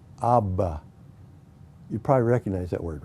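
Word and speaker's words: אבא: is for this word the hebrew word is pronounced abba you probably recognize that word right it's the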